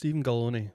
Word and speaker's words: Galloni: So, Galloni, Yeah. rhymes with macaroni.